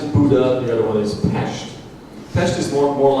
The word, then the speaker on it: Pest: English speakers like to pronounce it as Budapest, but I do not like the sound of the word pest. There are no pests there. It's Pest.